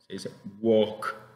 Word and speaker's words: walk: importante acá Wok Wok no se pronuncia la l en este caso se dice Walk con la que al